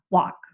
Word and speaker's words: walk: I don't pronounce the l. So it's just a talk walk.